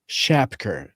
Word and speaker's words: Shapker: How do you say his last name? Shapker. Justin Shapker.